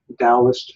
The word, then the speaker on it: Taoist: This is a Taoist figure, spelled Taoist. The T is pronounced like a D.